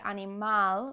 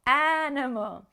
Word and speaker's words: animal: the last syllable but in english we don't say animal with the stress on the last syllable we put the stress on the first syllable animal and in english the